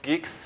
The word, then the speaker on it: Guix: going to talk about it's actually pronounced geeks which i think is quite unusual to many but yeah that's why